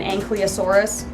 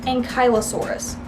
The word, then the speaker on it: ankylosaurus: that I guess also has anyone grown up calling this dinosaur an ankylosaurus it's actually pronounced ankylosaurus I've been wrong my whole life oh the shame what